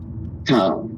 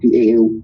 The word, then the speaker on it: Tao: Tao, T-A-O, or Tao, D-A-O. You pronounce it one way and you spell it one way and pronounce it the other.